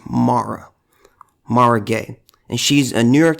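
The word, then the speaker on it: Mara Gay: eye if I remember quickly her name is pronounced Maura Maura gay and she's a New York Times editorial board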